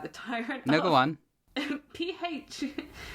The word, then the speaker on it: Phalaris: I'm not going to try and pronounce that. The tyrant No, go on. P-H-A-L-A-R-I-S? Phalaris.